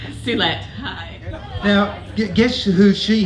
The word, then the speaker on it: Suelette: Suelette, give us a proper pronunciation. Suelette, hi.